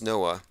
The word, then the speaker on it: NOAA: national oceanic and atmospheric administration noaa it's actually pronounced noah that their main symbol